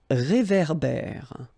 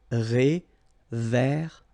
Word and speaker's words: réverbère: So here you've got this accent aigu, et, and then here you've got this accent grave, é. Okay, et, é. So it goes like réverbère.